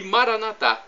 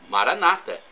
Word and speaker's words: Maranata: E Maranatá, como dizemos nós católicos, ou Maranata, como dizem os evangélicos ou protestantes. Não importa a pronúncia, o significado é o mesmo, Maranata ou Maranatá.